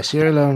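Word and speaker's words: Sierra Leone: loan Railway a hunslet okay sier Leon Sorry Sierra Leon is that how it's pronounced yeah Sierra Leon Railway number 85 okay so that was the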